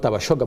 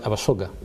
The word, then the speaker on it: Abasoga: Not Abasoga, not Abashoga, but Abasoga. There's a way we pronounce it.